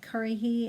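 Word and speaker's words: Currahee: say that exactly um but curry he is how you pronounce it and it's a cherokee word that means stands alone um in one of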